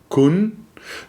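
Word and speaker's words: 困: number 47, which is, I'm going to attempt the Chinese pronunciation, kun. Then we had number 20, which is quan. And then we had number 29, which is kan.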